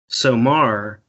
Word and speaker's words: Somar: Somar, when you use the drawn out R sound, and there's a couple other variations to signify plural, is wolves.